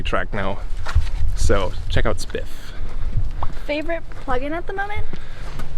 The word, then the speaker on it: Spiff: o e k i think is how you spell it uh called spiff s p i f f and it's a